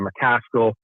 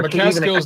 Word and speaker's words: McCaskill: Natasha Jonas or a McCaskill. Right. Or sorry, I keep mispronouncing her name. No, McCaskill's, that's it. Taylor is just you got it right. McCaskill's it. Jessica McCaskill, yeah.